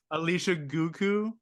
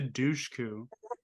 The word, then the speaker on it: Dushku: Alicia Guku? No, it's better. It's Eliza Dushku.